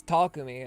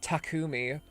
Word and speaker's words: Takumi: They pronounced Takami's name wrong. It's Takumi. It's not Takumi, which Eito said, and I was like, oh god.